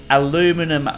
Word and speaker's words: aluminum: But what you guys see right here is actually a aluminum boat, or depending on the pronunciation, here in Australia we call it aluminium, but if you're in the US you call it aluminum.